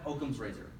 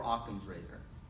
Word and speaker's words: Occam's razor: Okay, then we have Occam's razor, or Occam's razor. You can pronounce it either way.